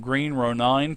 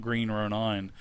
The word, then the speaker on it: Green Ronin: Chris Pramus from Green Ronin Publishing. I always thought it was Green Ronin. And then when we were all talking for the first time in TeamSpeak, Wolfgang said something about Green Ronin, and then I asked Chris, I said, is